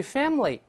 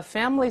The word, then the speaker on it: family: 注意 family 读快了之后，中间